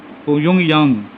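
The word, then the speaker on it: Pyongyang: और कैपिटल है, लिख लें इसकी स्पेलिंग, प्योंगयांग, प्योंगयांग।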